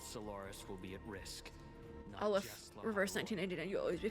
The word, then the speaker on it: Aleph: If Fernodian Aleph 1 breaks it is Aleph, okay. All of Solaris will be at risk. Aleph, reverse 1999, you'll always be famous.